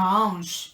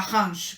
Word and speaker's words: hanche: por ejemplo, la cadera, que se escribe la hanche, con H obviamente, y se pronuncia la hanche en vez de la hanche, que sería lo que para mí tendría sentido, pero bueno, la excepción